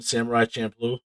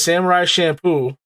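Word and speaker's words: Samurai Champloo: what am i watching samurai champ blue yes oh you pronounced it right i can't believe it it was me it was samurai shampoo until i watched the show yeah what do you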